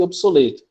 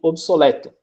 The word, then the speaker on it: obsoleto: de obeso, coeso e obsoleto, que podem ser pronunciados com E aberto, ou seja, podem ser pronunciados obeso, coeso e obsoleto.